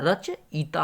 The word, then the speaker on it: रचयिता: है रचयिता होता है देखिए यहां से उच्चारण पर आप लोग ध्यान रखिए रचयिता देखेंगे लेकिन लेकिन वो होता है रचयिता होता है laguttar देखा